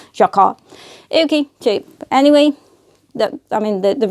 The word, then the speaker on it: jacquard: Jacquard, you say. Jacquard.